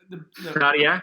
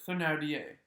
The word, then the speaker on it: Thénardier: Thénardier? As I remember it, Thénardier. Thénardier.